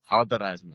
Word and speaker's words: Al-Daradji: Al-Daradji.